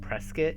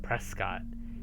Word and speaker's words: Prescott: You guys, I'm sorry I keep saying Prescott instead of Prescott, because we have a city here in this state that's spelled exactly the same way, but it's pronounced Prescott here. So every time I see it, I say Prescott.